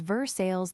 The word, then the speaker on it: Versailles: /Havre de Grace has another, and /Versailles/ is Versailles the pronunciation of salt, as in /Saltstee.